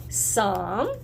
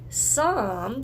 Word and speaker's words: Psalm: Everybody say Psalm. Remember, it's got a P at the beginning, but the P is silent. 69:30. Psalm 69:30.